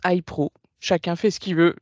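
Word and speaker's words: HiPRO: l'histoire de la Genèse day pro alors nous on le prononce Hypro chacun fait ce qu'il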